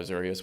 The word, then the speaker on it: Azureus: co-founded the product and i call it azeris by the way most people call it azureus which is probably the pronunciation but i wrote it so i get to call it I want so